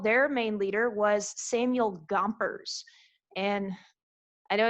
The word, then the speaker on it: Gompers: way of remembering samuel gompers i think of i think a pac-man you ever played pac-man you know i think of him like gomping up stuff okay so chompers and that rhymes with gompers and that's i remember